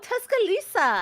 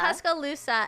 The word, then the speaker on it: Tuscaloosa: Oh, Tuscalisa. Tuscaloosa.